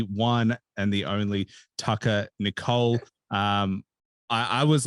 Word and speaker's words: Nichol: and the only Tucker Nicole um I I was like do I pronounce it nickel or Nicole and and that's you got it right I got it right